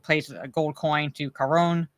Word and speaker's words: Charon: Basically, you know, John Wick pays a gold coin to Charon or Charon, basically, but I pronounce it the Greek way.